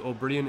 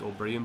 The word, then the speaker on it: O'Brien: It's confusing because O'Brien is an Irish name, and in the language Irish it's pronounced O'Brien, but in English it's O'Brien, so both are right.